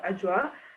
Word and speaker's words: Adwoa: And then myself at the bottom there, Adwoa, although it's, as you look at the spelling, it might not be how you want to say it, but it's pronounced Adwoa.